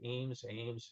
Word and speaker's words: Eames: This was all done by the, I always will mispronounce it, Eames, E-A-M-E-S.